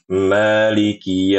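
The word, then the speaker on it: مَالِكِ: Maliki ini sering banget banyak banget. Maliki. Nah, seakan-akan huruf kafnya itu ada tasdidnya.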